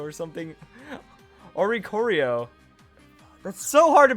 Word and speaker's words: Oricorio: If another Pokemon in the field uses a dancing move, then Oricorio, did I call it Oricoco or something? Oricorio. That's so hard to pronounce.